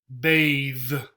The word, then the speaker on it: bathe: th e right so we have a word with an e on the end here bathe so then the th changes from this sound to this sound nouns are most often